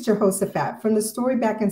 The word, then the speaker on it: Jehoshaphat: I think it's Jehoshaphat.